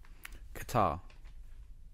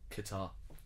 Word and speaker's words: Qatar: going to point to qatar qatar because apparently we've stressed on the first of all is closer to how the the arabic say it and which is very very difficult to say i mean